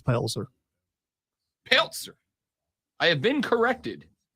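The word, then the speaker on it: Pelzer: is openly she's from Peltzer a place so country the Z is pronounced it's it's palzer Peltzer I have been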